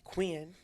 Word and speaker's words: Quinn: Quinn. Well, I said Quinn. One syllable. Quinn. It's that Louisiana in you. Oh. But I don't fault you. You're right. It is Quinn.